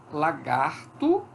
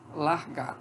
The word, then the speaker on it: lagarto: Então, por exemplo, lagarto, algumas pessoas falam largato. Veja, o R saiu daqui, da coda da segunda sílaba e foi para o ataque da primeira sílaba.